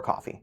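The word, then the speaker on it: Ko-fi: I don't advertise that I have Kofi. I don't. Or coffee, depending on how you want to pronounce it.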